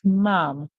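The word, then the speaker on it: ma'am: so this word says mom so because you have two a's in it they just say ah m mom mom mom mom is actually the short form for the word Madam short form for the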